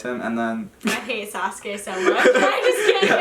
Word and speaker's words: Sasuke: Wait, how do you pronounce it? Sasuke.